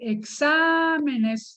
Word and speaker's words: exámenes: palabra examen y exámenes porque exámenes es una palabra aguda la sílaba tónica es a exámenes y a todas las